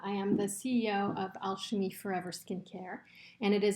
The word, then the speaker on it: Alchimie: The name is Alchimie Forever of Switzerland, and Alchimie is pronounced Alchimie. It is the French pronunciation of the word alchemy.